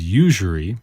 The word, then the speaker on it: usury: It's got kind of a weird pronunciation when you look at it. Usury, spelled U-S-U-R-Y. Usury. This one's probably not phonetic. Most of the words we cover I feel like are fairly phonetic.